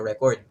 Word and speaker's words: record: However, kung saan tayo maglalagay ng diin na syllable, it will change the meaning. For example, record. The records show that 50% of the population o ba it becomes a noun. Just by adding stress in the first syllable, it becomes a noun.